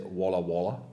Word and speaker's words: Walla Walla: You say Walla. Yeah. That's the right pronunciation.